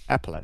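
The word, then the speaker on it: epaulette: I pronounce that word actually. What are these bits called? Epilelet.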